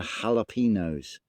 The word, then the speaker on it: jalapeños: foods like fajitas and jalapeños. Look how they're spelt. All four of those words are spelt with a J, but are pronounced with an with a H.